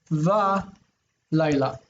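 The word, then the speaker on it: וָלַיְלָה: And this is a special expression, Yomam Va Laila. Whenever it comes right before an accented syllable, it likes to become A.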